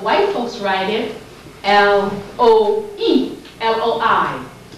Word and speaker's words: loi: But white folks write it L-O-E, L-O-I. Their Lua is written L-O-I. Our Lua is written L-O-A. Both are pronounced the same way.